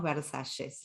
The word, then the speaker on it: Versalles: Un barrio muy hermoso que se llama Versalles, igual que Versalles de Francia, pero nosotros decimos Versalles, lo pronunciamos así.